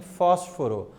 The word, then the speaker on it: fósforo: Então, no bus é a parte acentuada, assim como em fósforo, a antepenúltima sílaba recebe o acento gráfico, fósforo, beleza?